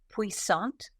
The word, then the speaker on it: puissant: of the Week Philadelphia it is originally from the French and it is spelled p u i SS a n t pant or if you like to put a French on it P and in the